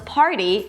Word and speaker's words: party: party as in let's party and potty as in potty training. Now of course the obvious difference is the fact that one has an R party and the other doesn't potty.